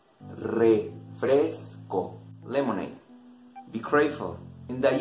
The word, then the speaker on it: refresco: Pay attention in the pronunciation, especially in the R. In the letter R. English R? Rain. Spanish R? Rain. Rain. Refresco. Refresco.